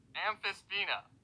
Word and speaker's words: Amphisbaena: Take a look at the Amphisbaena. Amphisbaena.